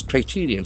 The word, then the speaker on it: criterion: officially questions best practice criterion c i t e r i o It's a beautiful noun. Criterion. Criterion. Criterion. The accent falls on the second.